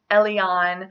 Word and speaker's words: Elyon: alternative I have is Ellie on which is a Dutch form of Elijah which means Jehovah is God now Elyon is the typical pronunciation for this name but I do not